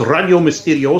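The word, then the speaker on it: Radio Misterioso: is is is pronounced already Ole Miss video so because I live in Los Angeles and everything here is Spanish ra di Oh Mis te RI OS oh it spelled like the Spanish way miss miss you do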